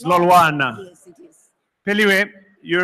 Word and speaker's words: Lolwana: on stage Professor Peliwe Lolwa. Please give her a round of applause. Peliwe, I'm sorry, I said your surname wrong. It's Lolwana.